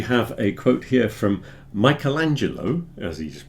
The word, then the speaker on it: Michelangelo: So we have a quote here from Michelangelo, as he's pronounced in English.